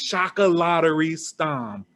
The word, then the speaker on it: Chocolaterie Stam: at shadow lake at say it for me shock a lottery shock a lottery stone if you're like me you may have been pronouncing it incorrectly but it's chaka lottery stom where is that from it's dutch it's dutch